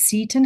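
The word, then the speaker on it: Seton: Um, it it would be good to pronounce this correctly. It is Satan House, named after Elizabeth Anne Satin.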